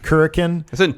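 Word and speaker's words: Korakuen: Like it's and especially like their entrance at the how do you pronounce the town? Kurikan.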